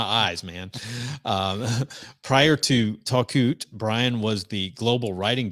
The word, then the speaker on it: Talkoot: Brian Hennessey is the CEO and co-founder of talkout I think I've got that pronounced right takut helps Brands like Adidas Burton